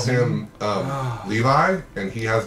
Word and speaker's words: Levi: His name is spelled L-E-V-I. Levi?